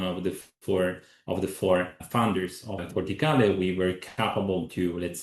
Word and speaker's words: Corticale: And for doing this, we founded in 2021 Corticale, as you correctly pronounce it. Your Italian is great. And let's say thanks to 2.5 million investment of one of the four founders of Corticale, we were capable to, let's say, perfectionate our